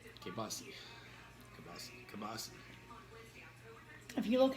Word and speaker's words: kielbasa: That's how you say it, kielbasa. Kibasi. Kibasi. If you look how it's spelled, it's I don't give 2 kielbasa.